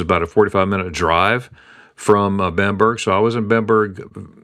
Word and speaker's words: Bamberg: Now, there's different pronunciations of Bamberg. Americans would say Bamberg, but it's Bamberg.